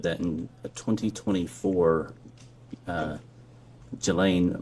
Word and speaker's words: Ghislaine: Um as best as we know, it's been publicly reported that in a 2024 uh Ghislaine Maxwell, or Ghislaine, I think is how it's pronounced, arranged and wired a